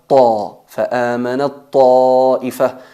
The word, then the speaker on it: فآمنت طائفة: El ta se fusiona en la ta y al pronunciarlo pronunciamos una ta enfatizada. فآمنت طائفة y se escribe فآمنت طائفة.